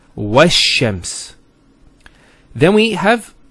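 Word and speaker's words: والشمس: Similarly, this lam is not pronounced either, because as we said, this is from the sun letters, and there's a shadda there. So it's wash-shams.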